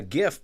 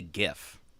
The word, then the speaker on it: GIF: last one is a gif pronounced with a hard or soft G oh see this is a in my opinion it's a hard G because it stands for graphics interchange format don't ask me how